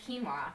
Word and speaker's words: quinoa: So quinoa, pronounced quinoa, by the way, is, according to our buddies